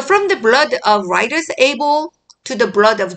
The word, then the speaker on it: Abel: 자, 이름을 영어식으로 읽어줘야죠. 아벨, AB의 에이볼 이라고 읽고 스가랴를 제코라이아. 그 다음에 바라기아를 베라카야. So from the blood of righteous Abel to the blood of Jerokiah, son of Berechiah.